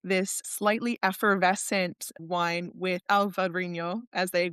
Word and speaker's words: Alvarinho: They make this slightly effervescent wine with Alvarinho, as they pronounce it in there, that is just incredible in the summer.